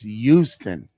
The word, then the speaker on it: Houston: It's the H is silent. It's Houston.